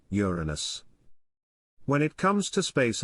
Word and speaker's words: Uranus: it into the unfortunate Uranus it's actually meant to be pronounced with the emphasis on the first syllable Uranus while this fall change